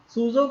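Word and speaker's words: SUSE: सूजो क्या है कि इसे स्पेल तो इसके ही है, पर इसे प्रोनाउंस किया जाता है सूजो।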